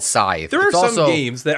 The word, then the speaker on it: Scythe: this game was called scythe long ago or as i hear it pronounced scythe no wrong if there was no e at the end maybe you could be